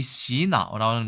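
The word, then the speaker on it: 洗脑: 뒤에 설명드리겠지만 이 시나오라는 것은 세뇌라는 말의 중국어식 발음입니다.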